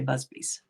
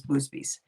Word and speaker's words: Busby: So she couldn't say Busbys. It was Boosbys.